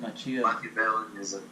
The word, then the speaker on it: Machiavellianism: How'd you pronounce it? Machiavellianism.